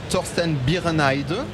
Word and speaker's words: Torsten Birenheide: And with your colleague Torsten Birenheide, I hope I'm pronouncing correctly.